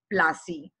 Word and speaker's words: Plassey: And the English people were, in their accent, they were calling it, instead of Palashi, they were calling it Plassey.